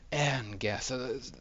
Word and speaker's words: Engeth: Engeth, like the air we breathe.